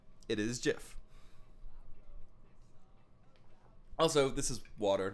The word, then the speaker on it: GIF: The letters GI, like giraffe, you don't say giraffe, you say giraffe. It's the same thing, because if you're making GIF a word, you have to say it properly, and it is not GIF, it's GIF, unfortunately.